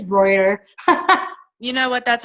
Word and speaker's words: Reuter: yeah no it's okay nobody pronounced is my last name right they called me ruder so I'm always like it's brighter haha you know what